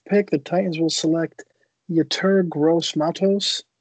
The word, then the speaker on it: Yetur Gross-Matos: With the 29th pick, the Titans will select Yetur Gross-Matos. Is that how you say his name? I might have completely butchered it. It's perfect.